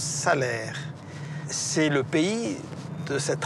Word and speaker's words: Salers: Alors là, on rentre dans le pays de Salers. Ça s'écrit Salers, mais ça se prononce Salaire.